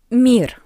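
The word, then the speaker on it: мир: Mir mir. We have e after m. That's why m is soft.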